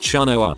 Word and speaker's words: Chenoa: hair and blue eyes my first name is Chenoa it's pronounced choa if people learn my